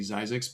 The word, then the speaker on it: Zzyzx: Come to find out, she wasn't saying it correctly. It's actually ZZYZX, but I call it ZZYZX just out of respect for her.